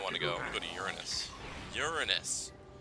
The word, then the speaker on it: Uranus: Go to Uranus. Uranus! That's how it's pronounced, guys, not Uranus. Somebody's probably waiting for me to say Uranus. But it's pronounced Uranus.